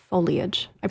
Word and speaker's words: foliage: wrong quite often foliage it is foliage it is not foliage it is I know that there's that eye in there it looks like foil it's foliage like spoilage yes yes just like